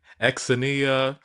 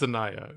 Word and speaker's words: Xania: Exania Manet. It's It's Zaniah. Zaniah, I believe.